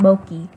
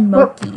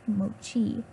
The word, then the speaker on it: Moki: You said Moki. We're not gonna... get any comments, but comment. What did I say? You said mo, like M-O dash key. Like key, not mochi. If you're gonna pronounce it right.